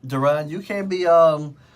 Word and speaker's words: Daron: It's pronounced Daron. I just wanted to let you know that.